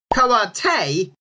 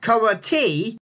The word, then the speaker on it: karate: This should be Karate, not Karate.